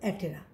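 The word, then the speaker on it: Aptera: বিজ্ঞানী লিনিয়াস 1758 সালে এই বর্গের কীটপতঙ্গের অ্যাপটেরা, বানানে অ্যাপটেরা বাট উচ্চারণে কিন্তু অ্যাটেরা, অর্থাৎ অপক্ষল পতঙ্গ হিসাবে এটাকে চিহ্নিত করেছেন।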